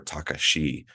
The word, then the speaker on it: Takashi: He named me after him, or he gave me his name as my middle name, and that T stands for Takashi, or Takashi as they pronounce it.